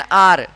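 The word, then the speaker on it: hour: An animal, an elephant, N ocean, N आर, क्योंकि H silent है यहाँ पे, एन ऑर्बिट और एन एग।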